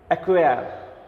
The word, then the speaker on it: acquire: ACQUIRE, অ্যাকুয়ার উচ্চারণটা। অ্যাকুয়ার রটা কিন্তু উচ্চারণ হয় না, এই জন্য ব্র্যাকেট থাকে অ্যাকুয়ার, অর্থাৎ আমি তোমাদের কিন্তু উচ্চারণটাও দেখাচ্ছি।